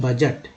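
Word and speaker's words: budget: बजट या आय व्यय बोलते हैं बजट, इसमें डी जो है साइलेंट है।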